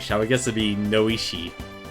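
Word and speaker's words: Noishe: you're sleeping what am i a turtle uh noish is how the game pronounces it lloyd's parents i didn't know anything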